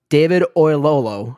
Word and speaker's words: David Oyelowo: I've also got, I'm probably going to butcher his name, but David Oyelowo, that's how you pronounce it, from Selma, playing the good old Martin Luther amazing, King.